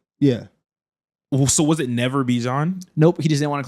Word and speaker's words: Bijan: It's not Bijan, it's Bijan. How long has he been saying? Like he said that like 4 days ago. Yeah. So was it never Bijan?